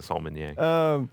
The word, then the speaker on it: sommelier: He's a sommelier.